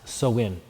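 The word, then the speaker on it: Samhain: call the season of soin and the interesting thing about the Irish language is you pronounce it nothing like it looks or how you would think it might be pronounced and so I told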